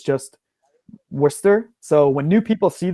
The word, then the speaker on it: Worcester: of those that's the pronunciation is so old that I don't even know the origin but it is Worcester and Worcestershire mm-hmm yeah okay Wow